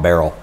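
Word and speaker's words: Baril: And oh, the photographer spelled his last name. It's spelled Burrell, B-A-R-I-L, Tom Burrell. And it's on the spine here. You see that? Tom Burrell. And it's pronounced Burrell.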